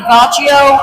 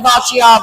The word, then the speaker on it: Bachi: I've been calling his name Bacio. It's actually Bachi.